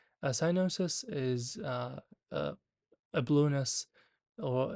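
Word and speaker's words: cyanosis: a person be experiencing the first one is sinosis or kinosis usually it's pronounced as sinosis a sinosis is uh a bless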